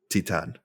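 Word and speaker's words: Titane: Titan. Okay. Titan, yeah. Okay. I've been saying something that I think is like that, and people have I think a been lot of people say Titan or something, but it would Titan.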